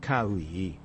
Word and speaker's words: Kawaii: My name is Kawaii. It looks daunting, but it's pronounced Kaoui.